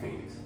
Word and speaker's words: Feniks: the phoenix bird so I changed the name of it on pretty much how you pronounce it which is f-e-n-i-k-s so I wanted to